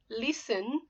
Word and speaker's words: listen: Listen, verb. Study, verb. So listen. Just pretend, friends, it's not the correct pronunciation, but just for now, you do listen without the T. The T is soft.